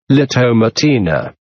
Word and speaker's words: La Tomatina: nvk festivals the Tomatina Spanish pronunciation opening square bracket lotto matina is a festival that